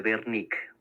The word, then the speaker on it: Wernicke: es el área de Wernicke, o Wernicke, porque es alemán, no Wernicke, Wernicke. En Alemania la W se pronuncia como una B, no como W.